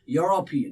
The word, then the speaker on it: European: this he is now do you say european if you're saying european that's wrong pronunciation european he's a he's european look at that yo the first initial here is yo right that's why he's a european similarly one one more